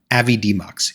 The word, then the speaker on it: Avidemux: this awesome tool is the open source program Avid demmo yes that's how you pronounce it and you can get it from